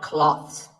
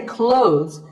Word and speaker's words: clothes: Well, first of all, this word is not cloths. When we say clothes, the TH in the middle can often be silent.